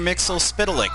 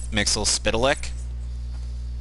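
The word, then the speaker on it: Mxyzptlk: Mixel spital ik yeah mixing plates actually is pronounced mr. miss Mixel spittle ik really yep pass comics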